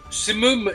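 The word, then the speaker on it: سموم: Well, no, Simum is the correct pronunciation in Arabic.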